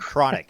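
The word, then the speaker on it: Cronache: very influential liberal newsweekly called chronic no it sounds like chronic it's spelled I'm serious okay listeners c r o n a c h e so he was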